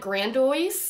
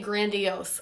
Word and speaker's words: grandiose: got uh you guys somebody really roasted me on the way that I pronounced this word I said Grand so now I'm going to say grandios I really don't know